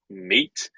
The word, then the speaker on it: Maet: All right, so like Steve said, we're Maet, and it's actually the word team spelled backwards, which is the inspiration for our name, and it's pronounced mate, like team mate.